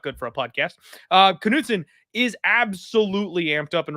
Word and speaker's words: Knutson: Knutson is 114.5 today.